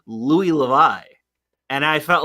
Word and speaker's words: Louis: who is French and they say you should say Lou but yeah it's not